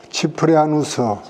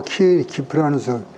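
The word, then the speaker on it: Cyprianus: 그 치프리아누스 혹은 키프리안, 치인하고 키프리아누스 그 발음이 다를 수도 있어.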